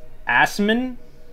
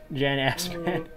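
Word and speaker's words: Assmann: jan i'm pretty sure it's pronounced asman but it's spelled ass man jan asman so have suggested some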